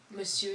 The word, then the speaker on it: Monsieur: Dursley, which would be Monsieur et Monsieur? No. Madame. Monsieur et Madame.